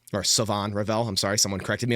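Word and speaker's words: Shavon Revel: So, we see players like Siobhan Rall or Savon Rall, I'm sorry. Someone corrected me on that and I didn't know that's how you pronounce his name. I think it's Savon Rell.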